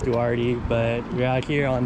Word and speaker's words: Duarte: mutually symbiotic relationship anyways we out here in duarte that's how you pronounce it dude i just moved here here yeah barty hurts i don't know man we're pretty sure it's pronounced duarte but we're out here on this little bike